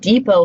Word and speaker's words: depot: slides with the word depot from French, right? Home Depot, I always think of, but depot, it ends in a T, but we don't pronounce it because we borrowed that word from French and then we kept